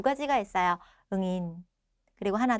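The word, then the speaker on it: nghìn: 0 3개를 끊고 앞에 숫자 읽고 뒤에 0 3개를 응인 혹은 응안이라고 읽으시면 돼요.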